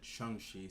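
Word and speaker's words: Shang-Chi: uh and actually heard kevin feige today said pronounce it shanxi so apologies internet once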